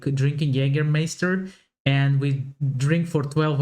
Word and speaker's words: Jägermeister: From shoes to alcohol, this is pronounced Jägermeister in German. Jägermeister. English speakers usually say Jägermeister, which is pretty much the same just with a pretty thick accent.